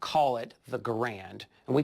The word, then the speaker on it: Garand: garand which is it people often call them garand but it's really garand french-canadian family came down when he was 12 years old but he carried that name and that pronunciation all his life he worked here from